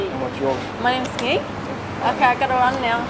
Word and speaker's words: Nghi: How do you spell that? C-O-N-G. C-O-N-G. And what's yours? My name's Ki.